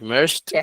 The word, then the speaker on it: merged: like merged you just do a little tea and with kneaded you do the the Latino thing that that Mar explained.